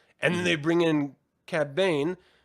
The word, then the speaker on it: Cad Bane: And then they bring in Cad Bane. Cad Bane?